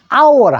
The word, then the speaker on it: hour: HOUR, hour라 합니다.